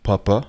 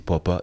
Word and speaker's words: Poppa: Bonjour à tous et bienvenue au 3è épisode de Papa. Comme je vous l'ai déjà dit, ça se dit Papa et non Papa.